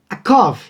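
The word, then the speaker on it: יעקב: Já o substantivo calcanhar leria-se akev, E o nome de Jacó lê-se Yaakov, tá ok?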